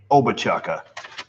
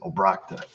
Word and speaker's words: Obrochta: If you're a telemarketer, you pronounce my last name Obachaka or Obrochta. Or if you're just me, you pronounce it Obrakta.